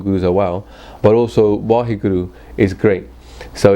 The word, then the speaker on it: Vaheguru: are wow, but also Vaheguru is great. So it's like an expression of wow. The second way of saying Vaheguru is there's 4 syllables in there, right? Va, he, gu, ru.